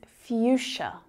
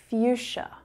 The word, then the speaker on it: fuchsia: The spelling makes it really difficult to try and pronounce, right? But if you close your eyes and you just listen to the words that I'm saying, the sounds that I'm making, it might be a little easier.